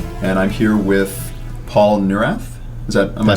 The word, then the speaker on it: Neurath: This is the Looking Glass podcast, and I'm here with Paul Neurath. Am I pronouncing that right?